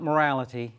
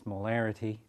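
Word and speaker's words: molarity: similar spelling all right so it's not morality it's marity um and that is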